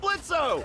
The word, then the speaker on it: Blitzo: Hey, that sounds like Blitzo! The O is silent!